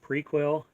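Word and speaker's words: Prequelle: new CDs this is I think it's pronounced prequel a new ghost CD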